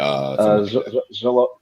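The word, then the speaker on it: Xolo: point in time other than um is it Zolo? Is that how you say his name? Yeah, Zolo.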